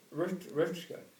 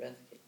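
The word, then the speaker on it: Roethke: It looks like R-E. R-O-E. Rethke. Rithke. No, that's not how you say it. Rethke.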